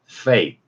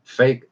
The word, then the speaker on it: fake: fake, fake. 자, 마찰이 일어나면서 계속되는 소리죠. fake F 발음은 우리말에 없기 때문에 제가 새로운 표기로 피읍 안에 작은 동그라미를 쳐서 표기법을 개발해냈습니다.